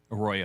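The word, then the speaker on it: Arroyo: Uh how do you say Aoyo? A Royo properly. Huh? A Royo. A Royo.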